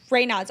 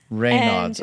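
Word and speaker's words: Raynaud's: Um, how how do you spell it first of all? Rayods. R A Y N A U DS. Rayods.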